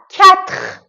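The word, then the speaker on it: quatre: کنید تخوا عدد ۴ کتخ کتخ کتخ کتخ فکر می‌کنم که این عددم آسون باشه نکته تلفظی که داره کو و او د تای با هم که قرار می‌گیرن صدای ک داره خب کو و او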